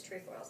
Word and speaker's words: Trefoils: is a good shortbread trefoils I always mispronounce it so if you're out there please don't slam me if I mispronounce it but trefoils it's not truffles it's true foil it has to be